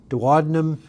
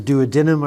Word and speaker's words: duodenum: then we have this turn here by the duodenum or the duodenum. I've heard it pronounced both ways, and right by that juncture there is this glandular structure there, and that's the pancreas.